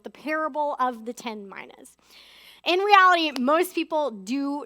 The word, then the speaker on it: mina: I don't know if you noticed, but Megan said Mina. I'm saying Mina. There's a division in the church over how to pronounce that word. In the Greek, it's pronounced Mina.